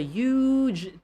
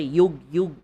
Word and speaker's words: huge: There's a huge tree right over there. Huge. Huge. Knowledge. So for huge, do not say yug, not yug, huge.